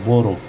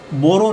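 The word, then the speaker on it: borrow: जैसे ये बोरो लेकिन डब्ल्यू साइलेंट रहता है। ये ध्यान रहे यहां हम बोरो नहीं पढ़ेंगे। यहां हम बारो पढ़ेंगे। इस ओ को हम ए वाली साउंड देंगे।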